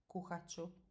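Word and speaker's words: kuhat ću: kuhati and then cho the way we pronounce this is as one single word and you don't even hear t so this really sounds as one single word kohachu so silent t dropping i and then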